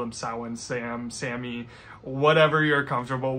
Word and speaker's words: Samhain: And finally we have Samhain, or also I guess you could call it Samhain. I do both. I actually named my new kitty, he's a small black cat. I named him Samhain, and I call him Samhain, Sam, Sammy, whatever